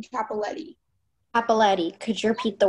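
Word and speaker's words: Cappelletti: Are there any alternate pronunciations? Just the one, Capoletti.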